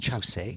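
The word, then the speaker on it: Kyaukse: very important for us in our tradition is chow si it's it's spelt kyokusei but pronounced chow se and chaos is what i'll call it all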